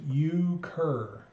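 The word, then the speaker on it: euchre: a lot better now it's pronounced ukur never heard of it never heard of uker it's a card game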